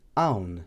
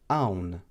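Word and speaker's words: hawn: Next, we have the akka, which is also a silent letter in the Maltese alphabet, and this is also not pronounced.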